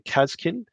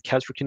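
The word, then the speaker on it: Kasrkin: Another one is I am probably going to one day do a lore video on Kazkin, or the Kazrakin if you want to mispronounce it, and basically speak about what it would be like to be in the Astra Militarum Special Forces.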